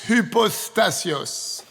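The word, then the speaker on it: hypostasis: Maintenant, ce mot substance est traduit d'un mot grec difficile à prononcer. H-U-P-O-S-T-A-S-I-S. Hypostasios.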